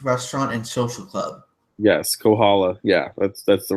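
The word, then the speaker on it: Kohola: sure will mispronounce them so it's can I pronounce one of them you can try Kaa Reef restaurant and Social Club yes Kohala yeah that's that's the right one so oneu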